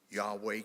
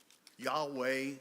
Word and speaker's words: Yahweh: And you may ask yourself, how do you pronounce that word without any vowels? It's very, very easy. You inhale yah, exhale way.